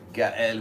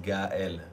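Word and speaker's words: Gaël: No one says Gael. They say Gael. Gael. But Gael. They struggle pronouncing the L already, so forget about the E tremor.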